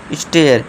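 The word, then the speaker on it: stair: फिर last but नॉट the least दोस्तों स्टेयर। स्टेयर यानी कि सीढ़ी। ठीक है दोस्तों? तो ये आपको ध्यान रखना है। ए आई के बाद आर आ जाए तो उसका उच्चारण क्या होगा? एयर होता है।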